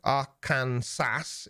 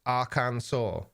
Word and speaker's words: Arkansas: arcane sass is correct but it's pronounced arkansas okay it could well be um a